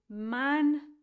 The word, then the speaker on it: manducat: And then the next word, again, three syllables, manducat. Pretty much like they all look.